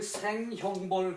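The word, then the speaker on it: 省刑罰: 이것은 줄이다 그럴 때는 생이라고 읽어요. 그 생형벌 그러면 형벌을 줄이고 형벌을 너무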